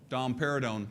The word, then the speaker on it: domperidone: I didn't say that domperidone I didn't say that it rhymes with Dom pérignon which is a very very expensive champagne but domperidone probably the